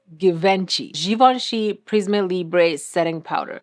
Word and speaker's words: Givenchy: I pronounce it how I see it, okay? And it is given Givenchy.